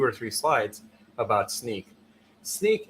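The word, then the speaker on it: Snyk: for about two or three slides about sneak sneak it's pronounced sneak um is an acronym and it's for so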